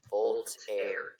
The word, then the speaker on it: Voltaire: So just go like Volt and then air. And then The E is silent. The E is silent. Voltaire.